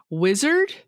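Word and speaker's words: Uizard: yeah there's this one called wizard the the web Geeks here are gonna love but it's spelled u-i-z-a-r-d which is annoying but it's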